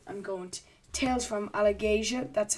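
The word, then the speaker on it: Alagaësia: So I'm going to Tales from Allegasia. That's how they pronounce the land in the book.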